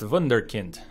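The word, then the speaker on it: Wunderkind: Pronounced vunder. Pronounced vunderkint.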